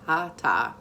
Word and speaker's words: hatha: spirit so hata yoga it looks like hatha h-a-t-h-a but it's pronounced hata so uh in sanskrit